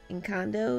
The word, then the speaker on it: Encanto: Encanto, Encanto.